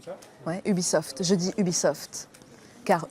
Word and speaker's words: Ubisoft: Je dis Ubisoft. Car U comme U, B comme bienvenue, et soft comme soft ça va?